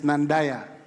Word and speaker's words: Nandaya: The right pronunciation is Nandaya.